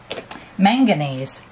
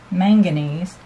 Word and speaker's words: manganese: So I took this same white, or this same mixed color, and I added a little more of the manganese. I think I said it wrong. Manganese.